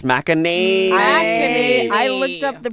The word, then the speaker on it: McEnany: It's McEnany. It's McEnany. I looked up the pronunciation before I got wow.